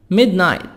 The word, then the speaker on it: midnight: midnight midnight gh silent midnight gh silent it's 12 a.m.